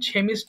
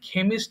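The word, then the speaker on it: chemist: কেমিস্ট বলা হয় তাহলে উচ্চারণটা কিন্তু থেমিস্ট হবে না ওকে সবাই একটু খেয়াল করবেন এটা অবশ্যই কিন্তু খেমিস্ট বলতে হবে খেমিস্ট এরপর আসি ক্লিনার পরিষ্কারক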